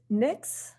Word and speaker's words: Nyx: lady k oh excellent her name is nyx i think that's how i would pronounce it like the greek goddess oh i got to